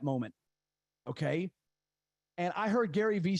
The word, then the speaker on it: Gary Vee: knows the gentleman uh gary vee or gary vaynerchuk okay if you don't know you need to know gary v just the letter v isn't victor okay you don't even